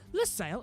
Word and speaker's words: Losail: Losail, it's Losail, L-O-S.